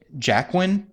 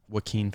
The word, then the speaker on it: Joaquin: Is it Jacqueline Phoenix? Joaquin Phoenix.